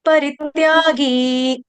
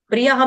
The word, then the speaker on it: परित्यागी: ने परी गा दिया परी दीर्घ नहीं करना है परित्यागी पर्यागी आपने बोल दिया परी परी नहीं है परित्यागी परित्याग छोड़ना परित्यागी परित्यागी